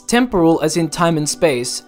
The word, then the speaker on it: temporal: It's temporal, not temporal.